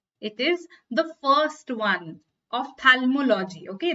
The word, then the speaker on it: ophthalmology: It is the first one, ophthalmology. Okay, the H is pronounced very, very silently, okay? Ophthalmology. But it's a P, okay? It's not P.